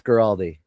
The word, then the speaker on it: Guaraldi: How do you say it? Vince Guaraldi. Guaraldi. Nope. Still wouldn't have said that. You could have given me an hour and I wouldn't have come up with that pronunciation.